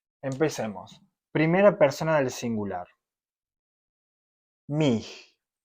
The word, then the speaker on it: mich: Mich. La pronunciación es mich, como una G bien rasposa.